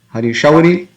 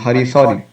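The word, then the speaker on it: Hari Śauri: Hari Shauri becomes Hari Sauri.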